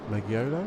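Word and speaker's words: Maggiolo: the um for uh Maggie Olo magiolo because that's how you pronounce his name so yeah very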